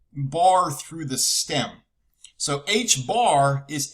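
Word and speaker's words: ħ: 2 pi its own special symbol and it's pronounced h bar it's h with a little bar through the stem so h bar is h over 2 pi okay all right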